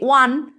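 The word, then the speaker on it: one: B they will arrive within hour ও দিয়ে উচ্চারণ হচ্ছে, সেজন্য এখানে তার আগে অ্যান বসবে।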